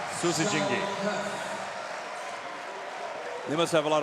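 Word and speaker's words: Susijengi: at the wolf pack the Susi jingi is what they call them how do you spell that s u s i j e n g i good job sus jingi they must have a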